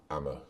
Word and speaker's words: Amber: a bus up to Amber Fort or locally pronounced amama Fort a breathtaking sight perched